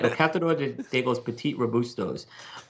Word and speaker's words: El Catador de los Petit Robustos: You got one over there that, let's see if I can pronounce this right, El Catador de los Petit Robustos. Did I get that right, sort of? Yes, you got it right.